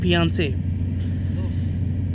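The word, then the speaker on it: fiancé: ये फियांसे जो है फ्रेंच वर्ड है, उसमें उसे क्या बोलते हैं, ए बोलते हैं। तो उसे क्या पढ़ेंगे हम, प्रोनाउंसिएट करें फियांसे।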